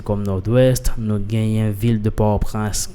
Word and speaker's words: Nord-Ouest: super maintenant jerkstone département du nord-est en pile prononcer comme nolwest no gains ville de port-prince mais en plus